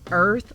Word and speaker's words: Irth: allers now remember it's earth like birth the B is silent because the B is for bias so I are you